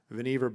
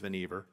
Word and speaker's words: Vannevar: engineering department at MIT, Vannevar Bush, I think I'm pronouncing that correctly. Someone can correct me if it's Vannevar, but I believe it's Vannevar.